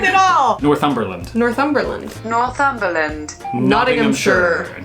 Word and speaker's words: Nottinghamshire: Nottinghamshire. Nottinghamshire. Not in Nottingham. We do say We do. Nottingham. Americans say Nottingham.